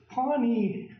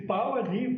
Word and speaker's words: Pawnee: And there again, anthropologists, Pawnee, the Pawnee. They can't pronounce it. Supposed to be Pawani.